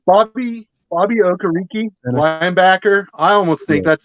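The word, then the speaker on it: Okereke: uh somebody's podcast and it's pronounced like carrot cake so like oh karaoke his parents came to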